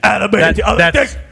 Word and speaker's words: adamantium: I probably got the name wrong. Just to be complete. I believe it's adamantium, dude.